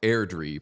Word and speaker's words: Airdrie: That Bantam team is pronounced Airdrie per Sam.